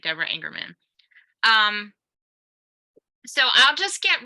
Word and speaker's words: Engerman: panel um and yes you are pronouncing my name exactly correctly which is people here often say it the wrong way but you're all you're saying it exactly right Deborah ingerman um so I'll just